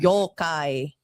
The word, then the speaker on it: Yokai: Um you can't even pronounce it so that's fine. Yokai.